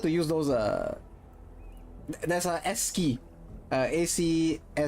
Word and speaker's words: ASCII: If anyone remembers the comic meme called Loss, LOSS, and then people tended to use those there's a S key, ACSCII, it's pronounced S key, I think.